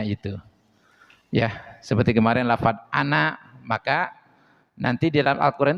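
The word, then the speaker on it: أَنَا: Ya, seperti kemarin lafaz ana, maka nanti di dalam Al-Quran itu banyak lafaz ana. Tah, nak di sana jangan dibaca panjang. Tapi naknya dibaca pendek.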